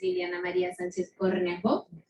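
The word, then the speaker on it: Liliana Maria Sánchez Cornejo: So my name is Liliana Maria Sanchez Cornejo, and how many of you can roll your R's? So then it turns out Liliana Maria Sanchez Cornejo.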